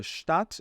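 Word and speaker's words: Stadt: na e a palavra status é uma palavra feminina e significa cidade de status da cidade tá esse DT aqui no final a gente fala como se fosse um p apenas a gente não fala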